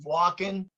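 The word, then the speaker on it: Wacken: it's it's pronoun it's it's pronounced walking but it's actually w-a-c-k-e-n and it's it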